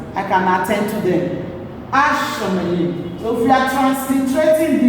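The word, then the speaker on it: השמים: So the heaven will be written as forte, Asha Mayim, Ashamayim. Don't forget that the forte here already doubled the consonant, so your pronunciation will be double.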